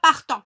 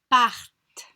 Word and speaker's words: partent: On ne prononce pas le ENT, on ne dit pas partant. Donc on dit partent, partent.